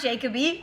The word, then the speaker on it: Jacoby: So Jay's last name is actually pronounced Jacoby, okay, not Jacoby.